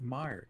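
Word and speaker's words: Meijer: new dune movie harsh i've never heard of meyer it's actually not spelled like that neo video it's m-e-i-j-e-r it's just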